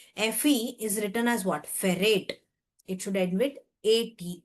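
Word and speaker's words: ferrate: It is pronounced as ferate.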